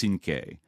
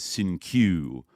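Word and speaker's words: Cinque: after should be pronounced Sinke. Like kind of like a 5, right, or whatever, and he mispronounced it as Sin-Q, so that's how he was known to everybody.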